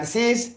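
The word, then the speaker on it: six: 25 के बाद वस एसई एक्स को सीस बोलते हैं ठीक है और 20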